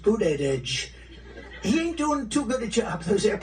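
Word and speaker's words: Buttigieg: know years ago I said how do you pronounce that damn name and they said boot Edge Edge the word Edge Edge that's the way it's pronounced booted Edge he ain't doing too good a job those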